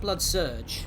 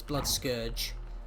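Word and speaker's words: Bloodscourge: Yeah, it's not blood surge. Uh, if that's what you're thinking, it's blood scourge.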